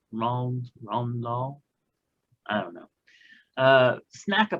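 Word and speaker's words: Roald Dahl: Roland? No, it's Ron Dahl.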